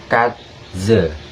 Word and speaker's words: Katze: Nah, jika E-nya di belakang kata kayak kalimat Katze yang artinya kucing atau cat, itu dibacanya sebagai Katze. Next, F, G, H, I, J, K, L, M, N, O, P, Q, R, S.